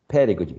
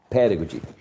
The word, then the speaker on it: pedagogy: the word the pedagogy pedagogy is stressed on the first syllable pedagogy that's the noun pedagogy now the the adjective